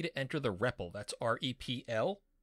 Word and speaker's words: REPL: Now you'll also see a message down here that says you can press any key to enter the REPL, that's R-E-P-L. That's pronounced REPL, and it stands for Read, Evaluate, Print Loop.